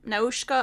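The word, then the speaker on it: Nausicaä: first film yes and I might pronounce it different than you but I just took the pronunciation from the movie because I watched it in Japanese that's fair so it's noshka of the Valley of the wind is the first movie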